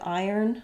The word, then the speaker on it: iron: If I were to look at the IPA of iron, I have first syllable stress, I have the I diphthong, and then I have the n sounds. Iron, iron.